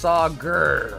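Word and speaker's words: Sagar: It's spelled s a g a r, but it's pronounced sager. Almost as if like it should have been e r.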